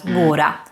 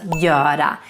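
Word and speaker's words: göra: when you're in Sweden super important to not pronounce this verb as bura No it should be pronounced as Yoda and this happens because the gear the G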